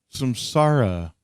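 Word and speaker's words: Samsara: the last two tracks were Empire falling and Sam Sara I guess is pronounced is that correct Nathan that is correct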